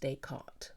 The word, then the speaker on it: Descartes: It's pronounced Descartes, but if I say that, not many people will understand that.